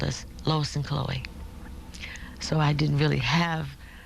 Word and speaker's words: Chloe: people my name is Chloe I love the name children couldn't pronounce it some adults would fuse to pronounce it and they called me cholo or Khloe or other things that were not Chloe um and my family